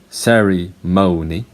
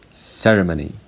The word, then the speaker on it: ceremony: The first one, Americans say ceremony, and British people say ceremony, and ceremony. And for this one, British people say testimony, Americans say testimony.